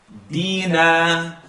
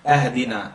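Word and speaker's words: اهدنا: Dina. A lot of times you're going to hear ahdina, ahdina, because they're cutting the alif. We shouldn't cut the alif.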